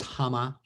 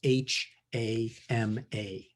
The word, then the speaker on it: Hama: Her name was Hama. It's a Japanese name, and it's spelled H-A-M-A.